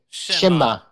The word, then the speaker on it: Cześć: Shema.